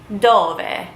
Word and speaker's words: dove: Dove. It looks like it is spelled dove, but you would pronounce it dove.